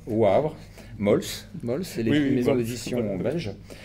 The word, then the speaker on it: Wavre: des grands philosophes là je vais essayer de prononcer à la wallon Wavre Wavre Wavre Mols Mols maison d'édition